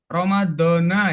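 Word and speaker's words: رمضان: Terus ada Ramadan. Ramadona ya bacanya ya.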